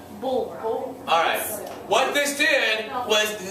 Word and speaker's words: Bulwer: bull and then where. Bulwer. Bulwer.